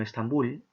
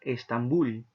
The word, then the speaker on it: Estambul: verso cual mágico sueño estambul bull tiene la mayor intensidad en la última sílaba estambul entonces cuando termina en